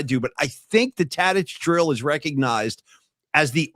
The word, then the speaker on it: Tadich: He was calling it like Tadik or something like that. Did you hear that? Yeah, it was weird. He didn't know how to pronounce Tadich.